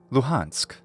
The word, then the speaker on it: Luhansk: is the region lujansk note here this letter sounds pretty close or identical to the English letter h loheinsk thus in English this region of Ukraine and its major city are called luhansk together luhansk and donatsuk